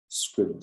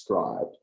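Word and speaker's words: Scribd: think it's pronounced scribe I don't think it's pronounced scrid I think it's pronounced scribed but you can actually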